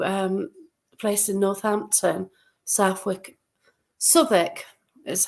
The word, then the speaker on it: Southwick: actually went to um place in Northampton Southwick sck is how you have to pronounce it I've been told I call it Southwick but there you go I got it wrong